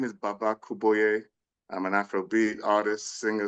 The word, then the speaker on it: Baba Kuboye: Welcome to a Songwriter Trysts, and today we have a very special friend that I met just last week, actually, Baba Kuboye.